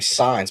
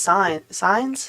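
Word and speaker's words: Saenz: like my buddy Gus his last name signs but it's it's spelled sanez all the time yeah easy or whatever yeah yeah yee-haw it's pronounced sign signs yeah okay I love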